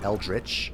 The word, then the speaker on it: eldritch: down an eldri Sovereign apparently it's supposed to be pronounced eldrich but I don't I don't like eldrich all right I was